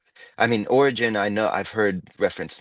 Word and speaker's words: Origen: So, uh Origen is um the way you're supposed to say it, if I remember correctly.